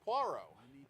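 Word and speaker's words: Poirot: A, he doesn't know he's talking to Puero or Puarro as he's frequently pronounced.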